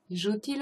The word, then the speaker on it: joue-t-il: But the joue and il, the fact that the verb ends with a vowel and the il starts with a vowel, it's hard to pronounce for French people, so you add a T in between.